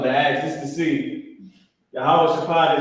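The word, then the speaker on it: יהושפט: Yahweh Shaphat is how you say Jehoshaphat in Hebrew.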